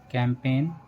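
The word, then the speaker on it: campaign: जब किसी वर्ड में एन से पहले जी आए तो जी साइलेंट रहता है। जैसे साइन, डिज़ाइन, रिज़ाइन, नेस, नेट, कैंपेन, फॉरेन, नो।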